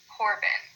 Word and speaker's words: Corbin: Corbin, we pronounce that a little bit stronger.